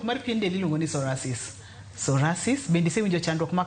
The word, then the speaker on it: psoriasis: To mangiso ni P kuom josani waluongo ni P is silent. Koro waluongo ni psoriasis.